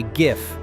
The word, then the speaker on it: GIF: And the overwhelming majority say GIF with a hard G, which aligns logically with the acronym.